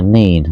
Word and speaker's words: Nene: It's the same as the River Nene or the River Nen. People call it the Nene and the Nen, but actually, what I'm led to believe, there is 2 rivers, the Nene and the Nen, that connect to each other. Or it's just the fact that further up the country it's called one, and lower down the country it's called the other.